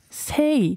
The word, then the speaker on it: SAAY: 근데 이제, 원래 세이, 그러니까 그냥 시옷자 발음, 그냥 세이로 이제 말하다라는 걸 쓰다가 아티스트로 이제 솔로 앨범을 준비하고 전향을 하면서 이걸 좀 더 발전시켜야겠다. 그래서 A를 하나 더 넣어서 더블 A, 약간 A 플러스 느낌으로.